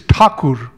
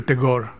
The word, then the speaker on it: Tagore: Tagore and Tagore a the way he would pronounce his last name and the way people in Bengal would is toku the English anglicized it - Tagore and the Spaniards we'll call it a Garre so anyway to find